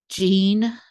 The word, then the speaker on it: Jeanne: You can email me at Jeanne, JEANNE at menopause.guru. It's the French pronunciation that I use.